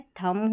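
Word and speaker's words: thumb: यहां पर देखिए कॉम बी का उच्चारण नहीं होगा। ठीक है? थंब हो गया।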